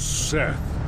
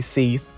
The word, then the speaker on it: Seth: main antagonist was set some people say seath i don't know why he doesn't say his name was seth but i still see people trying to pronounce his name as seath did make an epic